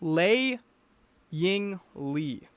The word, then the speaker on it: Lei Ying Lee: I want to say Lee, but it's Lei Ying Lee.